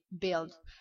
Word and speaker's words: build: Non, c'est build. Build pas build mais build. C'est-à-dire que il s'écrit u I mais ce ne sera pas un son BW I, ça fera pas build.